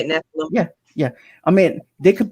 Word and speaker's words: Nephilim: That's how you say it, Nephilim.